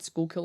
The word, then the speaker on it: Schuylkill: from Pennsylvania they're like you got the word School kill out of that you can pronounce it